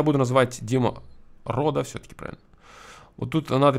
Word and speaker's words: Dima Roux: Если есть какие-то моменты с произношением, лучше в скобочках писать, типа, там, Дмитрий Константинович Ручкин, там, произносится вот так, да, Дима Ро.